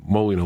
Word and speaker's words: Molyneux: Okay, really, Molyneux. Why don't they just spell it like that? They're going to come up with these fancy AUX.